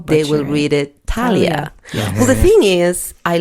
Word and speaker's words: Talia: of your name and I've heard it pronounced several different ways it's so beautiful both ways which way do you prefer thank you my mother calls me Talia okay that is my name okay what happened was